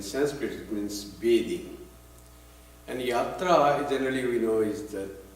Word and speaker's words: yatra: And yatra, generally we know, is the travel, journey. It also means play. And drama in Bengal we call jatra, and yatra is pronounced as jatra.